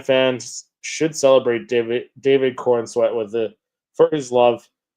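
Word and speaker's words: Corenswet: David uh David Corweat is how you pronounce it.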